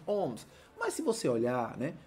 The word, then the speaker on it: ohm: uma resistência de quatro olha agora como é que pronuncia isso pessoal tá bom quatro homens beleza tranquilo essa é a unidade que representa a resistência elétrica nós dizemos em ohms mas se você olhar